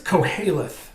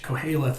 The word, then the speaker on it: Qoheleth: The word is Koheleth. It's spelled Qoheleth, Koheleth, and it's another name for the book of